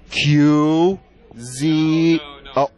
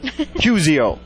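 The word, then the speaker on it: Cuseo: we find you online Q Z you pronounce it with a Q it's spelled c-u-s-e-o see easy qzio you can't get that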